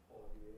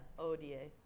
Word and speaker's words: hodie: Silent H at the beginning of the word. Yeah. When we say hodie, this was not. Do you say hodie? Nobody, yeah. Odie. Odie. Singers don't. Singers say odie.